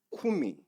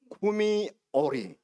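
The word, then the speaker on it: קומי אורי: 쿠미 빛을 바라라 오리. 구미오리. 자, 다시 한번 따라 세 보세요. 구미오리. 한 번 더. 쿠미오리.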